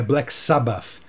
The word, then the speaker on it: Black Sabbath: aí eu me falando é Black Sabbath é aquele th no finalzinho que você pronuncia também já que ambas foram